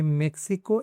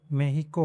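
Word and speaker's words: México: For example ये मेक्सिको English में बोलते हैं, मगर स्पेनिश में ये मेहिको होगा, में ये ह है, मेहिको।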